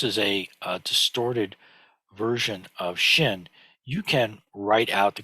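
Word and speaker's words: 心: It's pronounced Shin, but people never just write it on its own like this unless they're practicing, as an exercise.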